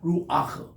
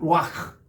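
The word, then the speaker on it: רוח: 루아흐.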